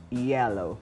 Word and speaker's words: yellow: Bueno, el colorcito tuyo ese se pronuncia con I, no con Y, recuerda, yellow.